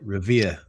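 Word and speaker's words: Revere: at the veterans uh foreign veterans post in Rivier Boston Revier, Massachusetts. I'm sorry. Well, if you're going to be in Boston, you have to pronounce it correctly. Up there, they call it Ravier.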